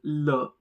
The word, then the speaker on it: le: When the noun is masculine, we use le, L-E. The pronunciation is le.